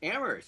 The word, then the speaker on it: Amherst: even pronounced it correctly it's ammer you said it right now try to get